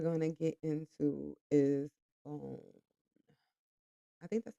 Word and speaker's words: Boun: So the next topic we're going to get into is Boun. I think that's how you pronounce his name. Boun. Is it not Bon? It's Bon Palm.